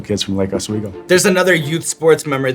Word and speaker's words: Lake Oswego: So I want to start by taking it all the way back to the youth baseball field in Lake Oswego.